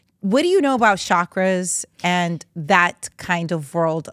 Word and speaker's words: chakra: do you know about chakras and that kind of world of like you know connecting with our inner self so first I'm going to tell you it's chakra okay because any person's going